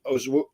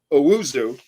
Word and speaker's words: Owusu: And I thought that was important for somebody to take on Ozwu. I'm never going to say it right, but Owusu.